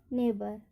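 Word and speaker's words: neighbour: Rule क्या कहता है हमारा, जब I और EI हो स्पेलिंग में, उसके तुरंत बाद क्या हो, GH हो, तो वहाँ पर GH का उच्चारण नहीं किया जाता है।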